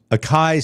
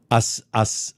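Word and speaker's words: açaí: The Hines tomato ketchup smoothie includes strawberries, raspberries, apple juice, akai sorbet, uh oh, it's not a kai, it's asai. Asai, right? Asai. I always say it's a kai. Asai.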